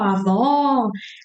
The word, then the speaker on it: avó: When you have this accent indicating something, that's an open sound. So, vó, open your mouth. Oh, really, really open. Oh, like do the the sound. Oh, you surprised me. Oh, avó, avó.